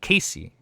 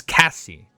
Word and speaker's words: Cassie: It's not Casey. It's Cassie. Cassie.